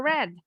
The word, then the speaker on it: read: I've ever read. I've Ever read. Bacanya seperti warna merah.